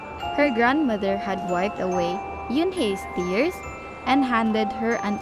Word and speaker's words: Unhei: It's pronounced Unhei. oh, it's yo, hey, The boy said. like you.